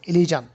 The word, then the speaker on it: elision: ইলিজান, এটার উচ্চারণটা হচ্ছে এরকম, ইলিজান।